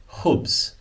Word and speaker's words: خبز: And we get the translation over here as khubz. Khubz. Okay? So here you have, look at the letters, the kh, and the be, and the z. Khubz.